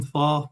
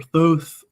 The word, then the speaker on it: Thoth: So, and then depending how you want to pronounce them, Thoth or Thoth, the Egyptian god that we got at Legions Con was just fantastic.